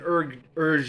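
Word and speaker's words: Hergé: So the author of Tintin, Herge, is how you pronounce it, I think, is of course an English.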